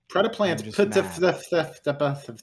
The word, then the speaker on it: Predaplant: Predaplant. Right, so fun fact, you do have to pronounce this name correctly if you want to activate the effect.